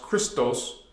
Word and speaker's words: Christos: we call it Christos even in Greek language the word Christ is pronounced Christos it's not a distortion